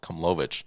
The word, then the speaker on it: Komlovich: name that Bill Komlovich, his name is not Bill Kimmler, it's Bill Komlovich.